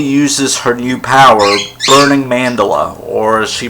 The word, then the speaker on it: mandala: whatever and recently uses her new power learning mandala or she pronounced it pronounces at mandela I'm pretty sure she mandala is the correct pronunciation because it's not Japanese